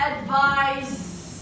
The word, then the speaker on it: advise: But advise, the sentence to be za.